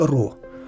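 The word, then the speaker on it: ρ: 17ю літерою грецької абетки яка вимовляється як ро Отже ро дорівнює M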